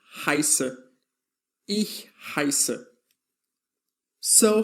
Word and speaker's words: heiße: This letter is called SZ, or also known as scharfes S, and it's always read as SS. So, when you see this letter, always pronounce it as SS, as in the expression ich heiße.